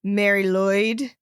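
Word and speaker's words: Mari Lwyd: First, I'm going to talk about a Welsh one called Mary Lloyd. Mary Lloyd. It's spelled MARILWYD.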